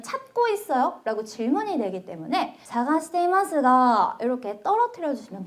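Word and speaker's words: 探しますが: 여러분 찾고 있습니다만 찾고 있는데요라고 할 때가라고 했는데 일본인들은이를 발음을 안 하고 가시마스가라고 합니다. 자 한번 같이 발음해 볼게요. 자 사가시 이마스가 안다 그랬습니다. 사가시마스가 이렇게 해볼게요.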